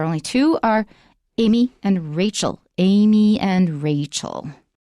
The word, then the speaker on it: Rachel: is a different name rachel also contains an a rachel not richelle it's rachel all right we're now